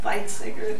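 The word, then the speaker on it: Weizsäcker: Frederick van how do you say this viter viter thank you and what is the Josephson effect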